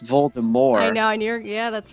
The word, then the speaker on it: Voldemort: correctness voldemort is pronounced voldemort now yeah that's right yeah because it's french the french verb more